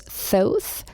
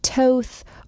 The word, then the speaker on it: Thoth: And then there's Thoth, sometimes pronounced Toth or Toth or Thoth. No one really knows since ancient Egyptian isn't spoken anymore, but he is a god of writing and wisdom and occult knowledge.